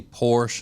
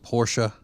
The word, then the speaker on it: Porsche: I've never heard anybody have a hard time pronouncing the word schedule. Schedule. Yeah. Uh people who say Porsche instead of Porsche. I say Porsche. Yeah, I say Porsche, too.